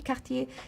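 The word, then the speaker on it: Cartier: Though the first syllable looks a lot like the word car, try to refrain from going all in on the car or car sound and use the back of your tongue to create the car sound with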